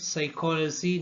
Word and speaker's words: psychology: Here p is silent. Psychology, pneumonia, psalm.